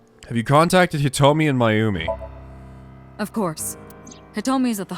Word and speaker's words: Mayumi: Let's listen to Mayumi's story. It's actually pronounced Mayumi.